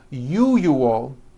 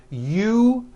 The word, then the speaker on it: usual: Break it up into 3 syllables. U-ju-ul. That second syllable, ju, the one with the underline, needs to be voiced.